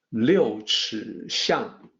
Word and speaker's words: 六尺巷: The actual pronunciation is 六尺巷.